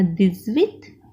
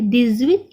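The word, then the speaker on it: dix-huit: क्योंकि H जो है वो हमेशा साइलेंट होता है और X का प्रोनाउंसिएशन हम यहाँ पे करते हैं, बट एच साइलेंट होने के कारण हम पूरे के पूरे वर्ड को कंबाइन करके पढ़ते हैं, इसे लियाजो कहते हैं।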